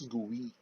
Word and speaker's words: GUI: uses graphical user interface or the gui pronounced as gui gui lets us use